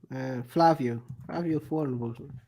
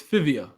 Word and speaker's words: Fivio Foreign: Flavio Foreign. 1 on 3. No, it's Fivio.